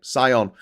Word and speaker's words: scion: I'm sorry if I'm saying Dai's name wrong. If it's Day, let me know. Scion. Okay, Scion.